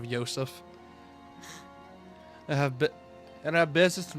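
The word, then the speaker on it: Josef: I like how most kids back in the day were probably going to be pronouncing it Joseph instead of Yseph.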